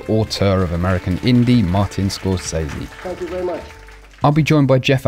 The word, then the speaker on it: Scorsese: with him a quick note here Scorsese is pronounced Scorsese also says he hello Vance hey it's Marty Scorsese see us Brits tend to get from A